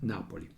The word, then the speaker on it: Napoli: roma on the napoli with italian pronunciation roma napoli in both this italian world the accent falls on the first syllable syllable in this two